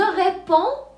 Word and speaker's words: réponds: إذن نقول je réponds وليس répondre. لا ننطق لا D ولا S.